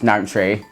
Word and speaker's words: Nanshe: And whenever I say Nanshe, it makes me giggle inside a little bit because I think of the female name Nancy, but just pronounced Nanshe.